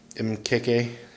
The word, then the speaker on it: Mkeke: little you do get a small branding hit mkk there that's how you say it so there's